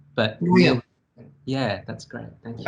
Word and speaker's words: Nguyen: Oh, well, can you tell me what the correct pronunciation is? It's Nguyen, but Nguyen.